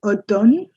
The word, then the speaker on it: automne: M is completely silent. L'automne. It's actually automne.